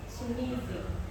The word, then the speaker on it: Chimere: Chimere, not Chimere. Chimere. Okay. Syllables. Okay.